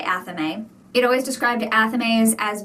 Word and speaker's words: athame: So, a lot of what I read was about how Amemes or Aamese, but however you pronounce it, it doesn't rhyme with flame or A-frame. I say Ame.